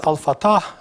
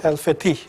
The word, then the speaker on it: Fatah: was one of them americans pronounce al-fatah while it is alpha T and 50 you know conquer so therefore and to